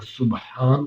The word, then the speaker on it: سبحان: کہ صابن بنانے والا، سبان کا مطلب ہے صابن بنانے والا اور سبحان کا مطلب ہے پاک۔ تو اس لیے جب ہم سبحان ربی العظیم پڑھتے ہیں تو اس کو ہمیں مکمل تلفظات کے ساتھ ادا کریں تاکہ اس کا معنی بالکل صحیح آئے۔ اگر ہم سبحان ربی